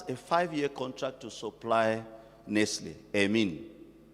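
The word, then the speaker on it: Nestlé: Nestle they call it Nestle but it's a French they come from the French part of Switzerland so it's Nestle you have to pronounce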